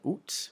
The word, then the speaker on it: août: Août. So you sort of sound like an owl a little bit when you're saying it, so it's août. You can also pronounce it, you'll also hear the pronunciation août with the final T, août.